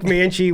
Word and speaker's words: Mancl: Mancl. Definitely not it. Mancl with HHA Sports is joining us in the studio today.